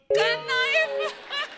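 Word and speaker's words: knife: मैं चाकू को भी कनाइफ बोलता हूं। नाइफ। कनाइफ नहीं होता नाइफ होता है। केस साइलेंट रहता है।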